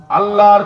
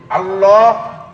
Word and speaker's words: আল্লাহ: পরে খুলবে কি খুলবে না তখন বুঝবেন সবাই মিলে আওয়াজ দিয়ে এবার পুর করে আল্লাহ শব্দটা হলো আল্লাহ আর আমরা হালকা করে পড়ি আল্লাহ আল্লাহ উচ্চারণের চাইতে আল্লাহ উচ্চারণটি সহি এজন্য আমরা নরমালি যে